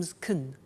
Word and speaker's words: can: she can speak Spanish now notice the pronunciation of can become zkn she can she can speak Spanish he can play tennis we can speak German alright so can becomes can when we speak now the negative form